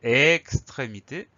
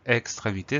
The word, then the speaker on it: extrémité: C'est ces consonnes, pardon, qui vont donner le son E au premier E. Donc, extrémité, sans accent sur le premier E.